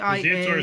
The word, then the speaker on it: Ziatora: Ziatora says at the beginning and stuff. Spell it for me.